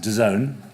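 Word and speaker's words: DAZN: about but now is da VN pronounced de zone that's how the kids are saying it apparently and that's a nonlinear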